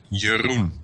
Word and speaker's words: Jeroen: you pronounce it Jeroen? Jeroen. Jeroen. Yes.